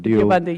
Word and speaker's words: Deobandi: Or how am I supposed to pronounce that? Deobandi, yes.